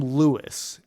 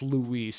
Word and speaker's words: Luis: But but anyhow, to continue on my point, like, so they call him Lewis in the game. I'm pretty sure it's supposed to be pronounced Luis, just given the context of where we're at.